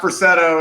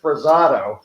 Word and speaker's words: Perceto: of one of what perceto is uh he's the drummer on the album whereas i called him for 25 years presado yeah kevin would mispronounce my